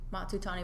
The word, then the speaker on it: Matsutani: stage name um no I go by matu Tani but people have a hard time pronouncing matsutani but I'm still going to keep it yeah